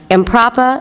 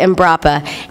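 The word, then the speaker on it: Embrapa: three words they are improper I keep saying that name wrong imprappa and brappa imbrappa and we here today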